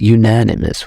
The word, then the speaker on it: unanimous: So, unanimous sounds like anonymous, but it's unanimous.